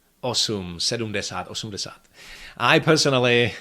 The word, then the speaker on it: osm: However, that is actually syllabic M in Czech, and it is sometimes pronounced in numbers 7 and 8. Sedm, osm, and words derived from these numbers, like sedmnáct, osmnáct, sedmdesát, osmdesát. Unfortunately, this goes only for very formal pronunciation of these numbers, and so normally you